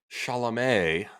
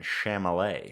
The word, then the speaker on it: Chalamet: It was literally only Kylie Jenner and Timothy Chalamet. Am I saying that right this time? I do believe a much better pronunciation that time than Chalamet.